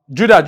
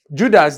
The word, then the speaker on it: Judas: Judas, like you mentioned, is just 2 syllables. J-U is the first syllable and D-A-S is the second syllable.